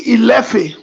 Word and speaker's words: Ile-Ife: Ile-Ife is actually Ilefe, which many of you know is also a Benin name. Ilefe.